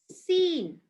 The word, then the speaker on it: scene: where c is silent whenever c comes after s it becomes silent when c comes after s for example muscle muscle right and also scissor seen fascinate i'll just give